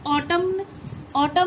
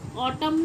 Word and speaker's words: autumn: होता है, AUTUMN, देखो MN साथ में आया, तो हम इसे ऑटम नहीं पढ़ते, क्या पढ़ते हैं हम इसे, ऑटम तो नहीं पढ़ेंगे, ऑटम नहीं पढ़ा जाएगा ना, क्या बोला जाता है इसको, क्या प्रोनाउंसिएशन है इसकी, ऑटम, ना कि न, ऑटम नहीं बोला जाएगा।